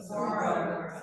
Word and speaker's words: saguaro: Somebody say it properly. Saguaro. Thank you. I was going to say saguaro, you know that's wrong.